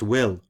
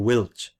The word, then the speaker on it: Wilt: In the Celtic language, Wilt, pronounced Will or Wilch, the T at the end of the word having the liquefied sound of ch in Christian, is a mountain stream, a brook, a river.